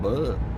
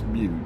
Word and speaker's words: Butte: I guess Well, I know it's pronounced Butte. I've heard it too much, but the I guess I could call it Bud. Uh, it's Butte.